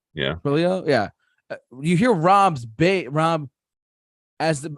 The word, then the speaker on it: Trujillo: Trujillo. Yeah. Trujillo.